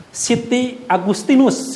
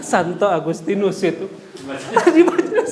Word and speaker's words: Santo Agustinus: dan lain-lain ada satu yang unik namanya yaitu Siti Agustinus judul aja nah saya nggak pulang kata Siti Agustini Siti Agustinus Santo Santo Agustinus Titi Agustinus Facebook lu ngajak Teteh kan itu